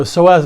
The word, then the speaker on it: psoas: So, the psoas muscle, it's spelled p s o a s, you don't pronounce the p.